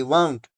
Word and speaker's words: wound: तो that means वाउंड, WOUND, वाउंड, वाउंड, पाउंड, ठीक है। इसकी तरह इसकी आवाज निकलेगी, जिस वाउंड का मतलब होता है टाई अराउंड द एंकल्स, किसी चीज के अराउंड में बांध लेना। तो एंकल्स के इर्द गिर्द जो है वाउंड को बांध दिया था, रोप को बांध दिया था जख्म के इर्द गिर्द, जो कि उसके एंकल्स पे था। तो इसका जो राइमिंग वर्ड है वो निकलेगा पाउंड, पाउंड, वाउंड।